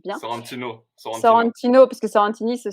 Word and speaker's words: Sorrentino: Donc du coup, Batman The Imposter de Mattson Tomlin et de Andrea Sorrentini, si je prononce bien. Sorrentino.